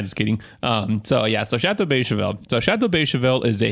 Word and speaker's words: Beychevelle: So let me introduce you to the dragon wine known as Chateau Beychevelle. So for our non-Francophiles out there, that is spelled B-E-Y-S or C-H-E-V-E-L-L-E.